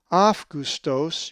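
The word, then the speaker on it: Αὔγουστος: If you said Augustos, you are correct, for the accent is over the epsilon in the alpha epsilon diphthong. Augustos.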